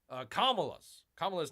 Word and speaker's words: Kamala: By the way, I finally figured out how to pronounce Kamala's name. You got to have the accent on the L. You got to emphasize the L in Kamala.